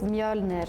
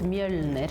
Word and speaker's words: Mjölnir: Okay, so in Swedish it's Mjölnir. In Norwegian, it's Mjolnir.